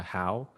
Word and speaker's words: Hao: with my name uh howe so in vietnamese it's pronounced how but to just anglicize it it's how which is completely fine with me i don't really care